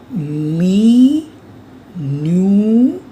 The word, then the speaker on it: minutes: you write minutes otherwise the spelling of minutes is same like in English but we pronounce it as me new remember pluralist is silent